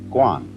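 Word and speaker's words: 觀: that means seeing and the whole character is pronounced Guan and it means a certain kind of observation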